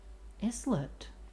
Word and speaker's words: islet: Islet. I always pronounce it islet because, like, it's a small island. So you would think it would be a similar pronunciation, right?